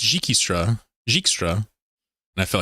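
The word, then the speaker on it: Dijkstra: I said Jikstra earlier, and people were like, no, it's Jikistra.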